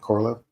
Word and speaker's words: Korolev: And am I so pronouncing it right? Is it Korolev? Yeah, Korolev.